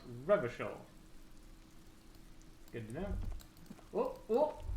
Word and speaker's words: Revachol: Rochelle's pronounced Revachol.